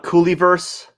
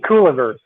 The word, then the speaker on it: Cooliverse: introduction when i said cooley versus did i say cool versus cool inverse it's similar to universe like i said instead